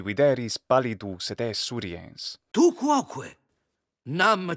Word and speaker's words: quoque: Tu quoque, fine, except for the extra long o in quoque. Tu quoque would be better, but hey, I'll take it.